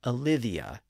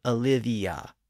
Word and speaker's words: Olivia: The IA at the end was originally pronounced IA, so Olivia and Lydia. But of course, when we pronounce those names in normal speech, we usually insert a slight Y sound or a Y glide in between. We say Olivia or Lydia.